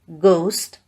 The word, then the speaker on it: ghost: H is not pronounced when it comes after C, G, R, R. For example, choir, ghost, rhyme, etc.